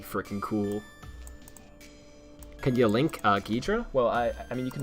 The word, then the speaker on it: Ghidra: Can you link Ghidra?